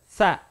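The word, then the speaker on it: ث: Huruf sa ini yang difokuskan adalah huruf S-nya. T-nya seperti tidak diucapkan tapi tetap terdengar. Kebalikannya dengan yang huruf ta tadi, kalau yang ta tadi S-nya yang dikecilkan. Ya, S-nya yang dikecilkan, T-nya yang dibesarkan. Kalau yang sa ini kebalik, T-nya kecilkan, S-nya besarkan.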